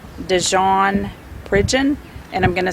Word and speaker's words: Pridgeon: being released at this time it's jaren dejean pridgeon and i'm going to spell that for you it's the first name is